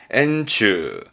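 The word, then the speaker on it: 円柱: 발음은 엔추.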